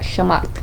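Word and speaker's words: Shamgar: And then we had Shamgat. I feel like it's said like that, Shamat. You don't really pronounce the G.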